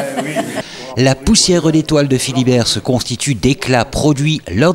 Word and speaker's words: Fillibert: Enfant des pays aux couleurs de la sidérurgie, on peut dire que pour Yves Manderveld, mais prononcé Philibert, la coulée continue serpente encore dans son esprit et son art sculptural et poétique.